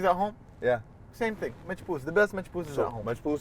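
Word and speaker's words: Machboos: Machpoos, which is like rice and chicken and like a broth and stuff.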